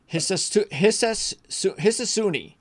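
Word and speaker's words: Hisatsune: It's Rio Hisatuni. Rio Hisatuni. The 2023 European Tour Rookie of the Year. Just how it's spelled.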